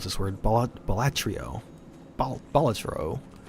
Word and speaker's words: Balatro: Balatro. I always thought it was Balataro, and I'm like, I don't think that's how those letters work.